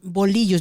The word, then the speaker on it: bolillo: Girl, I have been mispronouncing that. I've been calling them bolillo. Say it again for me. Bolillo. Bolillo. Yeah. Thank you. You got it.